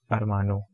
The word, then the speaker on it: hermano: And I told you before that the word starting with A, we generally have H, H silent. So the pronunciation of this, it is going to be Armana and Armano.